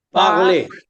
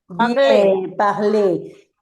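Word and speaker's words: parler: Acuérdense que la R final como la Z final o la T final, si va anteriormente una E que no tiene acento como este caso, no suena, pero te hace abrir fonéticamente la e. Está bien. Es como si terminara con una e con acento.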